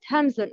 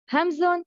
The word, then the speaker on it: همزة: First part, the deepest part of the throat, Hamzun and Ha.